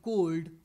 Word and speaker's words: cold: The reason is, in the rest 4, L is silent, whereas in cold or gold, L was pronounced. Calm, should, could, half. L is silent, whereas in cold or gold, L is pronounced.